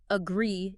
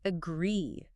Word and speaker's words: agree: The stress, or, the power of the word, is on the second syllable. The second part. Right. It is not agree, it is agree.